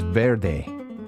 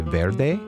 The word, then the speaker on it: vert: In Spanish, green is verde. Can you say verde? Verde. In French, green is pronounced ver.